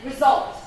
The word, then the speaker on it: result: But with result and result, we don't, the only way this word is pronounced is result. There is no result at all. So it's always result.